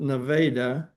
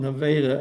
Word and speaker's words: Nevada: They pronounce it Nevada. Um apparently the locals uh call it Nevada.